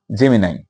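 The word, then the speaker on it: Gemini: সেটা হচ্ছে মিথুন বা জেমিনাই তো অনেকে এটাকে জেমিনি বলে তো জেমিনি জেমিনাই একই কথা ওটা উচ্চারণগত পার্থক্য এটা হচ্ছে বায়ুতত্ত্বের রাশি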